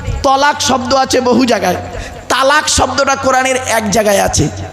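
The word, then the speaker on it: طلاق: আর তলাক মনে আছে শব্দটা তালাক নয় শব্দটা হল তলাক স্বামী স্ত্রী ঝগড়া করতে করতে কি দেয় তালাক দেয় না ওটা তালাক নয় শব্দটা লাম বাংলা উচ্চারণ তলকার আরবি উচ্চারণ হল তফ তলাক মানে পৃথক দেবা ছেড়ে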